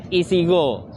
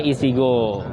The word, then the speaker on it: IECGO: Iya, ini kita kebetulan lagi acara kumpul-kumpulnya teman-teman dari komunitas Isigo. IECGO, tapi kita bacanya Isigo gitu.